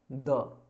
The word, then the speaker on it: the: अब इसका प्रोनाउंसिएशन 2 तरीके से होता है, कभी हम इसे दी प्रोनाउंसिएट कर देते हैं, कभी हम इसे द प्रोनाउंसिएट करते हैं, जनरली दो तरीके से। तो दी कब प्रोनाउंसिएट करना है, जैसे यहाँ पे अगर आपने लिखा दी अर्थ, ठीक है, तो यहाँ पे आपको क्या बोलना पड़ेगा, दी बोलना पड़ेगा।